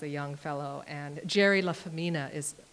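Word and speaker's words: LaFemina: Anyway, he was also very wild as a young fellow, and Jerry La Femina, is how you pronounce it, is his name if you ever look up his work.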